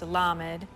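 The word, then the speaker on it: lamed: L A M E D pronounced lammed.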